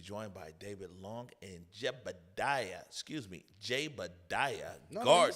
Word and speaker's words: Jaebadiah: going to be joined by David Long and Jaebadiah No, Gardner. you said it right, Hello. Jaebadiah.